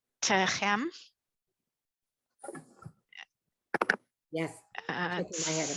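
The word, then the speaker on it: תֵּצְאוּ: Say, the aleph is silent. The tav is going to have that shava, and it's a syllable by itself. So we're going to hear it. And then the chem at the end.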